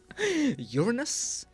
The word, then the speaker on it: Uranus: good with your pronunciations how do you pronounce Uranus Uranus you're a noose um so if the website is not fully live you can get away with 50 50.